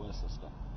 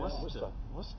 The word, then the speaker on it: Worcester: Oh, Worcester. Okay. Worcester. That's beside the point. Anyways, that's actually Worcester. Is it? Yeah, Worcester. Yeah, you don't say Worcester. No. You say Worcester.